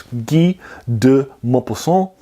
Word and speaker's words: Guy de Maupassant: you're English or American, you might have seen his name spelled Guy de Maupassant, and that's maybe how you even pronounce it. It's actually French. He's not American. It's Guy de Maupassant, and he is a